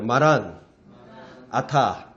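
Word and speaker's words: Maran atha: 우리 신약 성경에 보면 요한계시록에 보면 헬라어로 마라나타 이렇게 돼 있어요. 근데 그건 헬라어고 원래는 마란이란 말이 주님이란 말이에요. 아람어로. 아타가 오소서 이 말이에요. 그래서 정확한 발음은 마란아타예요. 마란아타.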